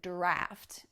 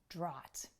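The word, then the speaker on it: draught: things more straightforward but the other spelling of the word with the a-u-g-h is draft and not draw it the next one is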